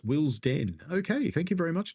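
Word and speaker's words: Willesden: day tomorrow Jonathan says the first e in wilon is silent it's pronounced Will's Den okay thank you very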